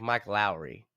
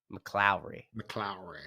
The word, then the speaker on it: McLowry: I want to say her name like Mike Lowry. McLowry.